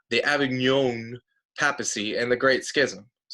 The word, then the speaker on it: Avignon: These two facts are kind of happening all at the same time as what's called the Avignon. You got to say it like French. The Avignon papacy and the Great Schism.